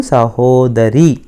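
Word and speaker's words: ಸಹೋದರಿ: नानु सहोदरी, सहोदरी। देखिए रा का उच्चारण ठीक करना है।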